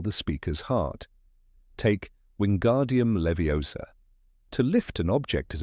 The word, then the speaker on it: Leviosa: "It's Leviosa, not Leviosa."